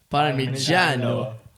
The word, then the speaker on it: Parmigiano: Parmigiano.